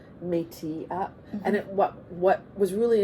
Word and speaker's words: Métis: So like you said Métis, right? Yeah. Whereas I grew up with the French pronunciation, Métis, right?